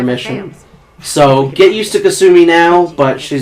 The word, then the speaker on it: Kasumi: It's pronounced Kasumi.